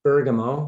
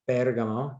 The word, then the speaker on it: Bergamo: you see on your screen, which is called Bergamo, or Bergamo, to use the Italian pronunciation.